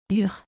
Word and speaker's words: urgent: Urgent. Urgent. Urgent. The letter T at the end of the word in French is not pronounced.